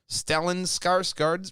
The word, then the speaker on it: Skarsgård: Talking to the Swedish news site Dagens Nyheter, Stellan Skarsgård revealed, very Swedish.